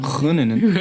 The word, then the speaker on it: Groningen: Is that the right pronunciation? Groningen. Yeah, Groningen.